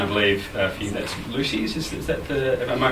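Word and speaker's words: Loosies: And I believe for you that's Lucy's. Is that am I pronouncing that correct?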